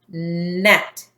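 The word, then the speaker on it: gnat: right so this word the G is silent they go together it says mmm act net a net is a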